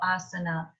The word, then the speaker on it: asana: And then our sa, and then it's a normal na, so asana.